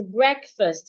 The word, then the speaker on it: breakfast: The first is breakfast. Bre. E. Bre. E as in egg.